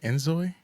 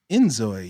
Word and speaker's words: inZOI: INZOI? INZOI. Yeah. Okay. So I think it's like a play on like enjoy.